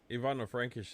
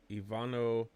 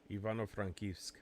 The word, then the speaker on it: Ivano-Frankivsk: Ivano-Frankish is huge too, right? Yeah, I mean it's so there's your epicenter to buy anything you need. Hold on, let You know, me pronounce it right. Ivano-Frankivsk.